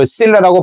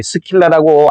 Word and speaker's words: Scylla: 약간 이 고급된 표현인데, 요 Scylla라고 발음됩니다만은 보통 이 스킬라라고 알려져 있는 말인데, 이게 스킬라와 이 카리브디스는 둘 다가 그리스 신화에 나오는 바다 괴물입니다.